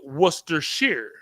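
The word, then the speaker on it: Worcestershire: city is named Worcester but the sauce is Worcester Shear second word so 0 for one and that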